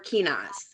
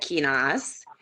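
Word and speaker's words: Kenaz: So yeah, I pronounce that Kinas.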